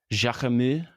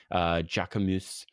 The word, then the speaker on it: Jacquemus: Jacquemus. Philip doesn't know how to pronounce that word. It's never I said it think out that loud before. there's no S.